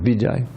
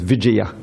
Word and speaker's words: Vijaya: Everyone knows Vijay. So that's the colloquial Bengali pronunciation. The real name is Vijaya, and this is the same Vijaya.